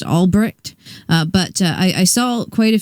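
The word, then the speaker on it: Ulbricht: I believe his last name is pronounced Albrecht, but I saw quite a few posts that were supposedly made by him.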